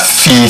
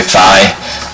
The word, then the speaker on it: phi: 49.9 is all about the understanding what that fee thing means and that's how you say it it's a Greek letter P some people say fine but he sounds a better self they have